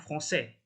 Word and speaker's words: français: Kemudian yang français ini kalau nggak ada jangkarnya ini ya, nggak ada la sedilnya ini, bacanya jadi franque ya jadinya.